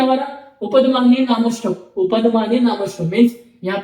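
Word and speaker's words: उपध्मानीय: ये जो साइन होता है इसे हम उपदमान्य बोलते हैं। ठीक है? उपदमान्य फ उपदमान्य फर् फ कहां से उच्चारण करते हैं? कहां से उच्चारण होता है? लिप्स से। ओष्ठ से। ओष्ठ। ओष्ठ मीन्स लिप्स।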